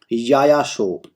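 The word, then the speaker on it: Yaya Tso: याया शो। याया शो। और बच्चों जब ये शो लिखा रहता है ना, शो, TSO, टसो, भाई टसो पे टी साइलेंट है, सो इसका मतलब होता है लेक, ठीक है, लेक।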